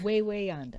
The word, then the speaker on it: Wawayanda: The Wawayanda State Park. Way yonder. Is it Way? Is that how you Way pronounce yonder.